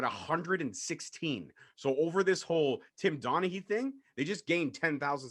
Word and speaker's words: Tim Donaghy: Tim Donaghy. Is that how you pronounce it? Tim Donaghy.